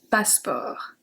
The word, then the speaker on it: passeport: Un passeport. Passeport. I don't think this one is really hard to remember since in English there is no E in the middle.